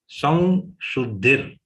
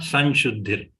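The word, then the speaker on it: संशुद्धिः: Slight flavor of va has to be there when we take the anuswar of sa. Samshuddhir, not Sanshuddhir. Okay.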